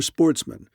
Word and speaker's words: sportsmen: good family who were Sportsmen a French word pronounced with the accent on the men the only trouble was